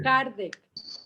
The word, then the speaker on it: Kardec: ¿Cómo se escribe? Kardec.